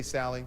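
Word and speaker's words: Salie: public radio host Faith saley okay is that right say Sally they said you got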